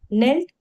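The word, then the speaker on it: kneel: अब है medieval nights नेल्ट before there king during the ceremony of night okay अच्छा यहां पर के जो है वो साइलेंट है इसीलिए इसको हम नील प्रोनाउंस कर रहे हैं।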